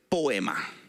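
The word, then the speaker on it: ποίημα: palabra en español y la palabra en griego es poema. Poema. como si fuera poema, pero con el acento en la poema.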